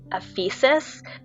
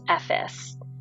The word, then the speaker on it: Ephesus: s u s so we thought it was Ephesus but it's pronounced effice um so the Magnificent epes tour we did